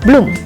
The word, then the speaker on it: bloem: Oe, pronunced "u" like in the word "bloem".